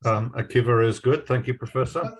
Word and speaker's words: Akiva: How is your name pronounced? Akiva is good.